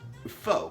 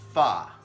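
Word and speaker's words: phở: look on the wall it looks like fo p-h-o but really it's pronounced far far and then the other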